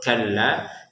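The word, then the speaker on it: كَلَّا: Nah kallanya baru panjang dua harakat dan tidak usah ditahan tasdidnya jadi langsung kalla.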